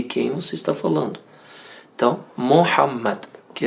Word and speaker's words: Muhammad: Inclusive explicando aqui para os nossos irmãos e irmãs brasileiros, brasileiras que estão assistindo, que a pronúncia correta do nome do profeta Muhammad é Mohammad.